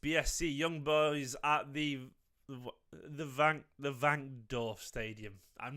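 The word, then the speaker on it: Wankdorf: It's the Vankdorf. It's pronounced with a V.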